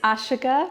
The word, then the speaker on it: Ashika: me how it's pronounced it's ashika my first name is ashika so my practice name